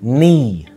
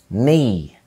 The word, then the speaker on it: knee: عندنا كمان لما ال K بيبقى جاي بعدها ال N، ال K بتبقى silent او صامتة في كلمات زي knock يخبط، knock knee ركبة، knee.